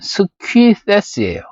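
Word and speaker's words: Σκύθης: 고대 그리스어로는 스퀴세스예요. 스퀴세스 또는 스키소이. V 같은 이 레터는 위라고 소리를 내는 게 맞아요.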